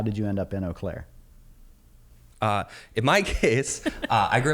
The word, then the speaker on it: Eau Claire: And as you said during introductions, you guys are from Eau Claire. Am I pronouncing that correctly?